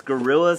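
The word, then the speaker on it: Guerrilla: I don't know like too much background on his company, but if you go check him out, it's Gorilla, spelled with G-U-E-R-R-I-L-L-A.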